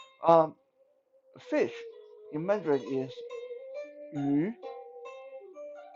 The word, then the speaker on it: 鱼: Imagine you are saying 续, like he, she, they, that she, she, but without the sh sound.